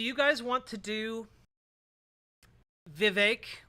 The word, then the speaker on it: Vivek: guys want to do Vivek rhymes with cake ramaswamy versus Medi Hassan